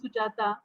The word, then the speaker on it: Sujata: I know there is a coffee cream company which name is Sujata, and that's why even kids in Japan knows my name very well. So it has same pronunciations, and nobody will mistake while pronouncing it.